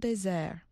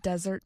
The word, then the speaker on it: Desert: He named the island, in French, Île des Monts Déserts, or Island of Desert Mountains. Today, locals still say the word desert, similar to its French pronunciation, désert.